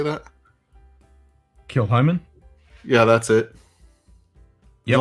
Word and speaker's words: Kilchoman: Kilchoman?